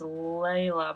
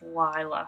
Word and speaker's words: Leila: I say okay hence's wife's name is Leila but I think it's Lila how they say it so it's hens and Lila instead of Hans and Lea which is what I thought it was but they're really nice